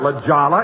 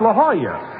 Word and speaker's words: La Jolla: Jack, that's not La Jolla, it's La Jolla. That's how you pronounce it in Spanish.